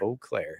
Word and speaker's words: Eau Claire: Yeah, but that's, they want to say that's the correct pronunciation. I think, if I were to say that my name's pronounced a certain way, you kind of have that. if you own it, you can name it whatever you want. So, okay. If you haven't immersed yourself in the Eau Claire culture here locally, you'll find out very quickly that is definitely how they prefer it to be pronounced.